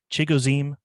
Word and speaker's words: Chigoziem: his name a lot which is pronounced chigozim Okonkwo thank you